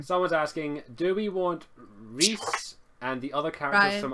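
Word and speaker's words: Rhys: And he says it's pronounced Evangeline and Reese were the two names I had problems pronouncing, and he's Evangeline and Reese, I believe.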